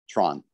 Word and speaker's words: Theron: The O is a bit more, because it is an Afrikaans name. It's got a little O, so it's Tron.